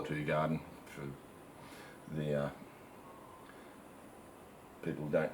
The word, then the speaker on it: Hoegaarden: Its proper pronunciation in Flemish is Hoegaarden, I believe. I've been told by people who lived in Belgium, and it's fantastic. If you haven't tried Hoegaarden, I'll call it Hoegaarden for the people who don't know.